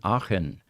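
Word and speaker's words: Aachen: there 30 years in achen and that's a-a-c-h-e-n and most uh English-speaking people can't pronounce that properly it's it's sort of a guttural sound you know yeah that CH would confuse me every time it's the same problem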